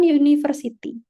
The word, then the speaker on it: university: Jadi bukan university, university. Terus juga T-nya tuh kayak D gitu lah, kayak suara D. University, bukan university.